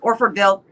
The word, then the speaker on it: Orfordville: that's a mouthful how do you say orfordville orford bill i got it right very well wisconsin and